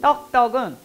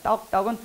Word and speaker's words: 떡떡: 떡떡은 따하고 떡하고 발음이 틀리잖아요. 떡떡은 떡떡 하라는 소리예요. 따따가 아니라 떡떡 이렇게 양손.